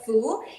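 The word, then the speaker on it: 福: Fu, we pronounce as Fu.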